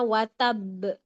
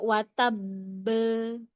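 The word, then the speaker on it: وتب: Harusnya watab. Dia bacanya watabb. Watab be. Ya, itu kepanjangan. Jadi intinya qalqalah itu adalah suara pantulan yang alami saja.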